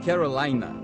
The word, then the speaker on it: Carolina: Carolina parece tão brasileiro, mas os americanos pronunciam Carolina.